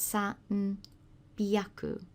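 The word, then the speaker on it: sanbyaku: So instead of san, hyaku, which you'd expect, you've got san, byaku, san, byaku.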